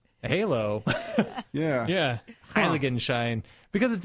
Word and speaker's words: Heiligenschein: But the word is, brace yourselves, Heiligenschein.